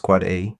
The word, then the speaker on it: AAAA: AAAA, pronounced quad A, maps a name to an IP version 6 address.